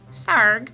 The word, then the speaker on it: Sarg: Sarg rhymes with arg.